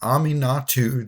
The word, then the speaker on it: Aminatou: today we are doing Ami natu the Fate shifter and uh aminatu is how Google says you pronounce that name so I'm going with